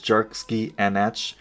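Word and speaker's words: Dearc: Its scientific name, pronounced as Dierks means winged reptile in Gaelic.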